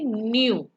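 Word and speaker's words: ν: और frequency is denoted by, ये V है पर उसका प्रोनाउंसिएशन हम करेंगे न्यू, एंड the frequency is hertz.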